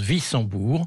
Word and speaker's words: Wissembourg: Wissembourg, c'est un W, on prononce Wissembourg.